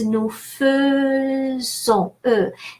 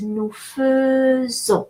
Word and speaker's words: faisons: So AI is pronounced E in French, but exception is the verb faire. So in the present tense, the verb faire is conjugated. Je fais, tu fais, il fait. It's spelled AI, so that's why we pronounce E. But then nous is nous faisons, instead of E, even though it's spelled AI, so it's nous faisons.